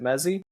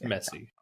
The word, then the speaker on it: Messi: you it's Lionel Messi there's no Z's there it's an S the these are easy